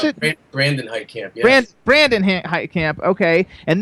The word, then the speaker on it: Heitkamp: Is that how I pronounce it? Brandon Heitkamp.